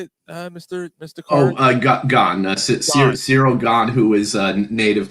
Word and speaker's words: Gane: Gane.